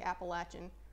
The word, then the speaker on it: Appalachian: like a ramp and yes that is how you say Appalachian remember if you think it's Appalachia I'm gonna throw an apple at you at your head at a high rate of speed because you're wrong anyway move it on